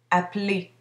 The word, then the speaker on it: appeler: Par contre, lorsque je dis le verbe à l'infinitif, je prononce la terminaison, appeler, et.